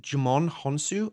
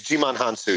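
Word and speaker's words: Djimon Hounsou: Is it Jimon Honsu? Am I saying that correctly? I think it's Jimon Hansu, yeah.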